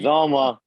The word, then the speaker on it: Uzomah: Uzomah.